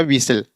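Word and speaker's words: whistle: दो बार आया है तो य फिर भी साइलेंट हो जाएगा तो क्या हो जाएगा विसल मींस सीटी ऐसे यहां क्रश्न तो ये हमारा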